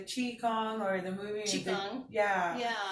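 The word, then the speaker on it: Qigong: I couldn't pronounce it, so I thought it was pronounced King Kong, so now I call it King Kong. Somebody made fun of me. And thank you, because now I know better.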